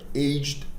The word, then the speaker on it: aged: O ED, ele vai ser pronunciado com o som de D.